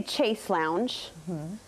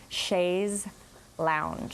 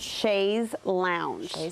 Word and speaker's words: chaise lounge: say let me think i used to say chase lounge i think it's chase with a z it's